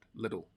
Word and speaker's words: little: just quick pronunciation thing when I say little quickly it becomes more like a D sound little I I only have